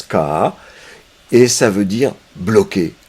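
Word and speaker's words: 卡: xia qui fait que, et cette fois ça se prononce ka, et ça veut dire bloqué, coincé, c'est-à-dire que c'est le symptôme, ou l'inhibition, ou l'angoisse.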